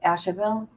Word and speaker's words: Asheville: North Carolina Ash how do you say that Asheville Asheville North Carolina is horrible horrible horrible horrible